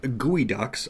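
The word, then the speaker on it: geoducks: Um, gooey ducks. I I keep reading geoduck. I'm like, "Oh, it's a geoduck."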